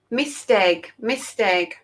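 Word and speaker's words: Maesteg: How do I pronounce it? Misteg. Thank you, Miriam. Misteg is in Wales.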